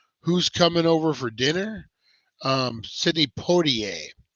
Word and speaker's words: Sidney Poitier: Sidney Poitier, is I believe the right way to pronounce that.